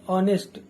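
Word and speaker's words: honest: में आप कहो कि नेस्ट का जो उच्चारण होता है वह होता है ऑनेस्ट ऑनेस्ट इसके अंदर एच साइलेंट होता है तो ओ का बोध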